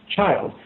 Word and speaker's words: child: But child rhymes with spilled. And I thought, oh, I wonder if actually they used to say chilled. Mm. But I looked it up, and there are several places where it's actually pronounced child.